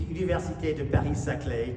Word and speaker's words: Université de Paris-Saclay: I teach at the Université de Paris-Saclay, to correct the pronunciation a little bit.